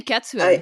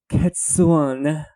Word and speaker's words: Cadsuane: I just was not expecting that pronunciation at all, so that got me completely off guard. I just say Cadsuane.